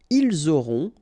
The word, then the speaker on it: ils auront: liaison here, vous aurez, ils auront, final T not pronounced, elles auront.